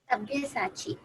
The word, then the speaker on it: Sabyasachi: To be honest, Mahima, at the moment, Sabissachi, well, may you pronounce how it is, someone of you? Sabyasachi.